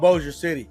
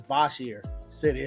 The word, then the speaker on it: Bossier City: Uh cuz it's called Boer City, but it's B O S I R. Everybody says Bosshier city.